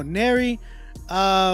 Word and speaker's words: Nero: It's pronounced like Mary with the N. Thank you for letting me know. Nero, first single, open to all constructive criticism.